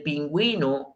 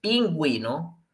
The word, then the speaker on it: pingüino: y obviamente para retomar recordemos que ponemos la diéresis ok cuando queremos pronunciar la letra o al interno de otra vocal como la y cierto entonces pingüino para poder pronunciar la uv necesitamos poner esos dos puntitos que el español llamamos